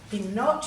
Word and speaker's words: knot: short vowel in the knot you've also got a silent k on the start of that and we've got double